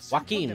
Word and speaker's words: Joaquin: Joaquin, that's how you pronounce it.